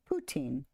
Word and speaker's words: poutine: That's not how that's pronounced. It sounds funny. Hold on. Yeah, hold on. Oh, it is poutine.